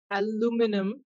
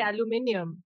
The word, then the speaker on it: aluminium: I can't say aluminum. I will say aluminium. Right.